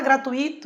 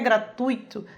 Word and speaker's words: gratuito: O correto é gratuito, né? É um ditongo aí, e é o encontro da vogal U com a semivogal I.